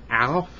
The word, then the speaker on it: Aleph: The three first alphabets I know is Aleph, Bet, Bet. Aleph is spelled A-L-E-P-H.